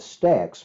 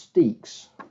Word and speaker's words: Stexe: some more Stakes monsters and yes I'm now pronouncing his name correctly I was calling it Stacks but uh he told me that in a message that it's actually pronounced sticks so we got the sugath soap there's the